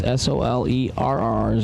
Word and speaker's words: Soler: I would say it's S-O-L-E-R-R. So they're telling us to pronounce it Soler.